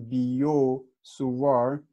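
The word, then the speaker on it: Biot–Savart: okay so this is the French pronunciation biot-savart I think it is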